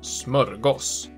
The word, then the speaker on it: smörgås: som en egen enhet, vilket också är varför vi ofta uttalar det med kort ö och ibland även å, smörgås.